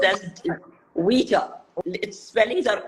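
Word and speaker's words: Ouija: have never tried what's it called it's called pronounced as WEA it spellings are o i o u i j a yeah but it's pronounced as WEA Bo goodness gracious you see the people from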